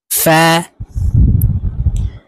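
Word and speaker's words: فاء: হবে আইন গাইন গাইন ফা ফা নিচের ঠোঁটের পেটের সঙ্গে ফা হরফ উচ্চারণ করতে হবে ফা কফ জিহ্বার গোড়া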